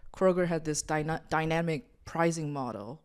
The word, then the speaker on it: Kroger: typed it into Google, and I was like, wait, why is it just Kroger? I was like, oh, she's been saying it wrong the whole time.